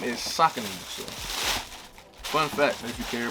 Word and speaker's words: Saucony: the i know a lot of people say sakoni so but um according to the website the correct pronunciation of the company name is soccer fun fact if you care about it if